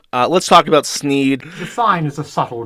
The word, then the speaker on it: Sneed: the shop is called sneeds Feed and Seed where Feed and Seed both end in the sound Eid thus rhyming with the name of the owner Sneed can we get this